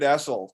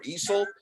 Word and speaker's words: Essel: Our guest is David Essel.